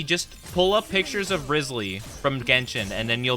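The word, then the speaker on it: Wriothesley: Spicy, just pull up pictures of Risley from Genshin, and then you'll be good, right?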